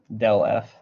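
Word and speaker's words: ∇f: So, oh yeah, this, you can pronounce it del f.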